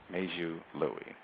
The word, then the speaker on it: Meizhu Lui: my my name is meiju Louie major Louis am I saying it correctly that's right major Louis outstanding thank you it